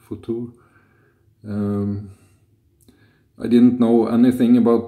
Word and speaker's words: Futur: And I'm gonna try a new razor today, Merkur Futur, I think it's pronounced in German, Futur.